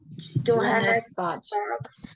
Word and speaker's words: Johannesburg: Johannesburg, but I would travel as necessary.